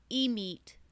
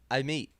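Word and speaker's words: Amit: meet you you said you said e meet I did not say that Kevin I said I meet I have trained my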